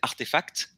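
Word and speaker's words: RTFKT: une startup qui s'appelle artefact qui s'écrit rtfk mais ça se prononce artefact et eux sont les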